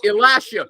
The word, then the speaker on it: Alascio: It's Alascio.